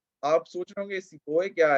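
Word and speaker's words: sepoy: आप सोच रहे होंगे सिपोय क्या है? ये अपना हिंदी वाला सिपाही है, right? The British were not able to pronounce the word सिपाही, hence they pronounced it एज सिपोय।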